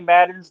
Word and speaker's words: Maddon: Everybody, be sure to check out all Jimmy Maddon's. Did I say it right? Yeah, that's Maddon? right, man.